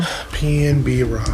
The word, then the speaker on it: PnB Rock: Pnb Rock.